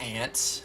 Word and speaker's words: aunt: Yeah, she's his aunt. It's pronounced ant, like the bug, but we forgive you.